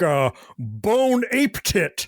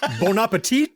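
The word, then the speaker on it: bon appétit: I'll take a bone ape tit. Uh that's bonapetit.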